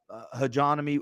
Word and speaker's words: hegemony: I'm telling you, it's hegemony. How do you say that word again? You're smart. Hegemony.